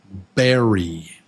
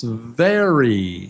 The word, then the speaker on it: very: Number 1 is berry with a B, and number 2 is very with a V. Yeah? So I'll say one word and you tell me which one it is. The word is berry. Berry. Is that 1 or 2? Oh, I said the wrong one. I'm sorry. I said berry. It's very. Yeah, it's very. Okay.